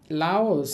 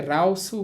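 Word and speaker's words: 라오스: বিদেশী শব্দ বলতে পারেন তো বিদেশী শব্দগুলো বলার সময় তারা রিউলকে ল এর মত উচ্চারণ করে। সুতরাং আপনি এই শব্দটাকে উচ্চারণ করতে পারেন লাওসু। লাউসু মানে লাউস। এখন আপনি যদি এটাকে রাউসু বলেন মানে রিউলকে রয়ে বলেন তাহলেও কিন্তু ভুল হবে না। হবে সেটাও দুইভাবেই বলা যাবে।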